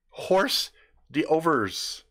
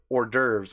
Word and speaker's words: hors d'oeuvres: right horse do vers horse do vers I thought that was how you said that and then when someone said hors d'oeuvres I'm like nah mother order to spelled like Oh our de our ves hors d'oeuvres man they're like they looked